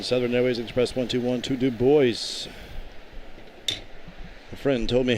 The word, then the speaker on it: Du Bois: Grand Caravan, Southern Airways Express 121 to Du Bois.